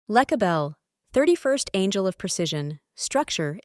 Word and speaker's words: Lecabel: Lecabel whispers, "You are not just building the plan, you are becoming the foundation." Cosmic ID Card. Name: Lecabel, pronounced Lecabel.